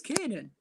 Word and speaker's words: Kiernan: They're arguing about how to pronounce Kiernan Dewsbury Hall. It is Kiernan.